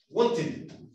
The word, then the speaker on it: wanted: ¿Cómo se pronunciaría eso? Wanted.